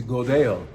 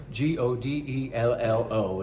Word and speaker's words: Godello: This grape is Godello, Godello. And you see the double L, you pronounce it yeah, just like llama, como te llamas, or what's the name of your llama?